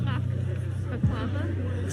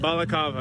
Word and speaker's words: balaclava: It's not baklava. Something like that. I don't want to say it because I'm just gonna say it wrong. People are making fun of Yeah. I just don't say it. Balaclava.